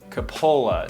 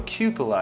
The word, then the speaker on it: cupola: a long time thank you i had always pronounced it coppola so i was like way off so cupola is how it's pronounced and so when looking